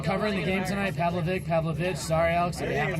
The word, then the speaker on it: Pavlovic: Had Alex Pavlovvic been covering the game tonight? Pavlovic. Pavlovich.